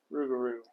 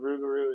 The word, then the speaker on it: Rouxgar: be watch City Cigars rugaru I do believe that's how you pronounce that yes R's R the only the only other outlining difference is that the Corel and is from 2023 and the rugaru is is uh I